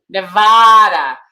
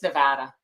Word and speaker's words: Nevada: Now, listen, this is why we held up our vote count releasing that because all the newscasters kept saying Nevada, you know, and yeah, it's Nevada. Nevada.